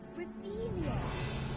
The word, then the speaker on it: Revelio: Ugh, Revelia.